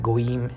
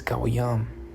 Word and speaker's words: Goyim: It's not Goyim, it's Goyam.